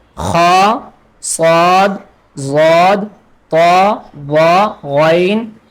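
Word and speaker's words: خ: Next is kha. Kha. Kha. And also the kha is halqi letter, so the kha we pronounce from top part of the throat, like kha.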